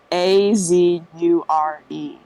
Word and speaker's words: Azir: It's Azure. Yeah. Oh, Azure. Okay.